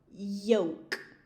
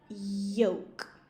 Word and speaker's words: yoke: So my teeth touch when I say that, joke. And yema, yoke, yoke. My teeth don't touch when I say yoke.